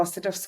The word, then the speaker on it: Saduf: then I'm like, oh, Saduf's quite hard to pronounce. And it's not. It's 2 syllables. And it's literally as it's spelled, there's no other way to say it.